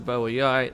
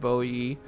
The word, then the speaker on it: Boii: not nervy e but I'm going to try and go with Bo e just because the most uh recent sort of pronunciations I've heard have gone with this so I'm going with